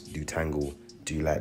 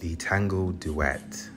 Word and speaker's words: Detangle Duette: So as you can see, I'm gonna be completely elongating the curls using this Detangle Dulette, that's what I call it, but I think it's pronounced Detangle Duette.